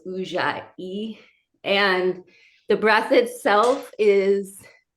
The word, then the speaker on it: Ujjayi: Today I'm very excited to get into what is called Ujjayi. It is spelled Ujjay. So it's Ujjayi.